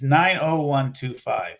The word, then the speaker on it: 90125: It's 90125.